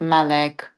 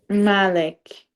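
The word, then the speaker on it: مالك: in you'll see that there's a dagger out so that changes the pronunciation so it would be Malik Malik okay not Malik yeah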